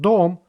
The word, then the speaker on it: дом: Next 2 words, мой and дом, both are made of 1 syllable. That means the letter O always pronounced like O.